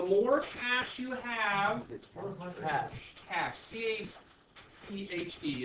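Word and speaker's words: cache: cash you have cash cash t-h-e is pronounced cash like c-a-sh yeah it's just a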